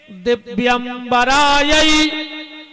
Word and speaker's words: दिव्यमराय: इस मंत्र का शुद्ध उच्चारण है दिव्यमराय च दिगंबरायो दिव्यमराय मतलब जिनके दिव्य आभूषण